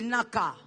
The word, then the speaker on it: Nacah: Le sous-thème de ce soir, les Naka. Naka, c'est en hébreu, ça s'écrit N A C A H.